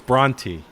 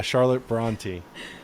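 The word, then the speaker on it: Brontë: who's the author of jane eyre charlotte branski bronski i don't know how to pronounce that is that like bro bronson bronski i think it is i think it's bronte bronte something is that right yeah yeah yeah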